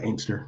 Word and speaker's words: Inkster: Yeah, Inkster.